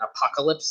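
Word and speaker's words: Apokolips: is he the from i think it's pronounced like exactly like apocalypse like that's his homeworld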